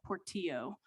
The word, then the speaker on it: Portillo: Also, I know that you know how to pronounce Commissioner Portillo's last name because you've been here a number of times. I've heard you pronounce it correctly. Please do not mispronounce her name. It is Commissioner Portillo.